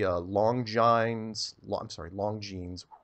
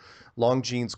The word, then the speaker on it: Longines: Watch the Longines. Pronounced that wrong. Longines chronoscope from 1954, where he goes on national